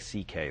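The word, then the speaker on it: Székely: My Hungarian grandfather's name was C.K., but it's spelled, it looks like, it's a mess. It's S-Z-E-K-E-L-Y, and it sounds like C.K., though.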